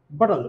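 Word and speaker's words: bottle: যেমন বটল, আমরা বাঙালিটা যখন উচ্চারণ তখন বলি বটল, আসলে এর উচ্চারণ হবে বটল। খুব দ্রুত উচ্চারণ করতে হবে, কারণ এখানে ই যে ভাওয়ালটি আছে এটার উচ্চারণ হবে না, অর্থাৎ এল দিয়েই আমাকে সিলেবল তৈরি করতে হবে।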